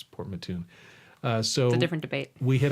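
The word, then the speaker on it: Port Mouton: sorry Linda port Mattoon I mispronounced it - as I said port moot all I thought was French but no it's port Mattoon so different debate we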